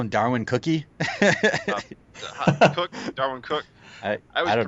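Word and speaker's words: Cooke: Did you call him Darwin Cookie? Darwin Cook. I always don't pronounce know. it wrong. I want to say it's Cook, but Cookie is good.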